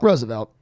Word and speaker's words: Roosevelt: And Do you pronounce it Roosevelt or Roosevelt? Roosevelt. Okay. Roosevelt.